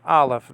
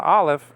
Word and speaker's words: aleph: Okay, so you don't pronounce the aleph. That X-looking letter is a nothing. I mean, it has no pronunciation. Okay, that's a silent letter in Hebrew.